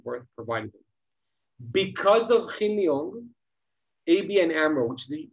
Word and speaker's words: Hin Leong: So I think the right way to pronounce it is Hin Leong, because they're Chinese origin.